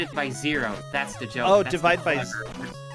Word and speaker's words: Xiro: now there we go this is oh it's pronounced / zero that's the joke Oh / yeah see I thought it was a joke because it was pronounced Shiro no no it's 0/0 or just the serum